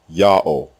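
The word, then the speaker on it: יהוה: God's proper name is therefore pronounced Yah, pause, O, full stop, Yah-O.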